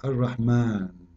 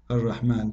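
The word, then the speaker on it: الرحمن: So if we say Ar-Rahman in the Quran, it's coming the alif very short, but you hear me pronouncing the alif, Ar-Rahman. Ar-Rahman. This is not a fatha only, it is a letter.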